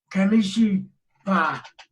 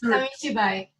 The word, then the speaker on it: Kamishibai: theater called, and I'm not sure I can pronounce it right, but it's Kamishibai. And yes, Kamishibai. Kamishibai.